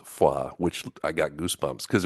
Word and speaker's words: Foy: yeah and then the town of Foy which they pronounce FAA which I got goosebumps